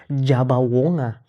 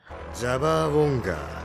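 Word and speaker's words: Jabber Wonga: Kenalin ini karakter paling gila di Gacha Kuta namanya Jeber Wer tapi dalam pelafalan bahasa Jepang jadi jaba wongga. Jaba wonga.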